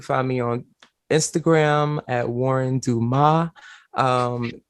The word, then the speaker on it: Wuhryn: that pops up but it is pronounced like the original spelling of my name which is warren w-a-r-r-e-n and dumas my middle name and the s island so that's it shut